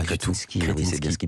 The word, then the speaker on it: Kretinsky: Oui, on ne dit pas Kretinsky, on dit Kretinsky.